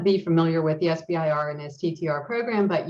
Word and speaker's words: SBIR: have heard the term sivir sometimes people pronounce it as if it's a a word and that's fine both are correct so there are 11